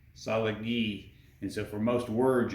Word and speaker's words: Cherokee: syllable based and so when we say Cherokee they pronounce it kind of a salad gee each of these characters is one sound so Cherokee solid ghee and so for most